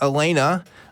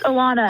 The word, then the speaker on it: Alana: I want to say this is pronounced Elena. Elena in New York. Can you hear us, Elena? Yes, I can hear you. Great. How's it going, Elena? It's Alana. Alana.